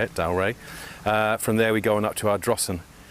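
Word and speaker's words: Dalry: told this morning is how to say it, Dalray.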